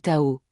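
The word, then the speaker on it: 到: Le mot pour arriver se dit Tao, et le mot pour à l'envers ou retourner se prononce de manière très similaire, Tao.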